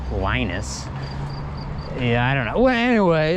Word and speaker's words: Linus: his name is linus and in english we pronounce his name as a linus like the kid on um what is it